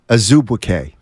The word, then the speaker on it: Azubuike: Nigeria, or it might not be Nigerian, the way you pronounce his name is Azubuike.